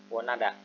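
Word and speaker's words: 원하다: Wonhada itu diartikan menginginkan, wonhada, wonada enaknya dibacanya, wonada menginginkan.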